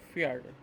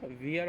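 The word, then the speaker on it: vier: ভি মানে হচ্ছে ভে, ভি মানে হচ্ছে এফ এর মতো উচ্চারণটা হয়, ভি এর উচ্চারণটা হয় হচ্ছে এফ এর মতো।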